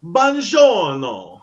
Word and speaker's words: buongiorno: And when you see him, you just yell real loud, "Buongiorno!" Yeah. Buongiorno. Buongiorno. The real pronunciation is buongiorno.